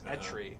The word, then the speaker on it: Etri: And I always did Ekri. Yeah, I would always say Ekri as well, but it's Etri.